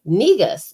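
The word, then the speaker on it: Negus: no so we you know she was like negas and i was like spell it and she was like n-e-g-u-s and it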